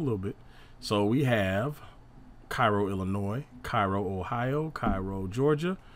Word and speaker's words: Cairo: Alexandria, Virginia, and Little Cairo, Illinois, though the locals pronounce it Cairo, are the other Egyptian-derived towns.